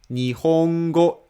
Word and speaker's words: nihongo: middle pitch for example word nihongo is flat so you read the first Mora law ni and the rest of the Mora with flat middle pitch is flat so the